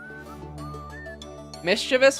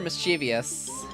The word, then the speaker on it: mischievous: So, what's the historically correct one? Mischievous or mischievous? Mischievous. Okay. Mischievous. Got you is the original.